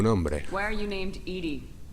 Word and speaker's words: EDI: Why are you named Edie? ED is the phonetic pronunciation of EDI.